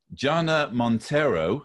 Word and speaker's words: Jana Monteiro: in the age of coronavirus and zoom meetings gianna montero have i pronounced your name and welcome you you have